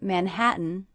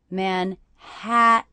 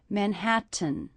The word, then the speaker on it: Manhattan: I notice that the stressed syllable of Manhattan is the middle syllable, Manhattan. Also, I hear that I'm not really pronouncing these T's as true T's. That would be Manhattan, but I'm saying Manhattan with a little break.